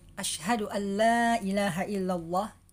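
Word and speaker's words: أشهد أن لا إله إلا الله: dari segi mahraj tajwid asyhaduallailahaillallah lainnya ini harus panjang juga tadi ada membacanya ketika adzan asyhaduallailahaillallah jadi seharusnya asyhaduallailahaillallah pakai itu aja kemudian dari segi suara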